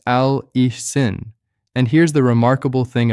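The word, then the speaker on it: allicin: A l i c i n pronounced al ein.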